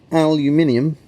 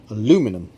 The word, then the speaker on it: aluminium: borin is a metalloid aluminium americans don't use the second eye so they pronounce it aluminum aluminium has a protective